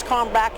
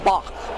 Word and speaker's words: Crombach: Crombach is with me. And, how do you say your last name? My last name? Crombach. Crombach. Because I've been saying Bach, as the German way. So Crombach. Crombach.